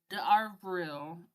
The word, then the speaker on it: d'Avril: In France and surrounding areas, the day was, and still is, known as Poisson d'Avril. That's pronounced poison.